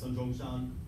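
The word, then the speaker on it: Sun Zhongshan: um also known as sun yetzen uh i guess that is is his um cantonese pronunciation of his name or sunnis in chinese in the chinese um scholars known him as sanjongshan uh the first modern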